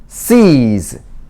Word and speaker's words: sees: S는 S 소리도 있고 여기에 어떻게 보면 지금까지 설명을 안 드렸는데 Z 발음입니다. 그래서 S는 두 가지로 발음이 납니다. S 소리가 있고 아니면 Z 소리가 있고 발음기호 이거고 발음기호 이거고. 그래서 여기는 그냥 Z 소리가 난다 이렇게 얘기를 해주고 설명을 해주고 나갑니다.